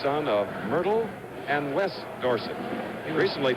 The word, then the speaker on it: Dorsett: of Myrtle and Wes Dorset recently Tony says we should pronounce his name Dorset however too many people know it the other way Christian hard time to